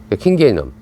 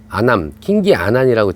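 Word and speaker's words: kingianum: 킹게이넘 아니면 킹게이넘 이렇게 발음하는 게 맞는데, 킹기아난이라고 지금 아니라 킹기아난 아무도 못 알아들어요.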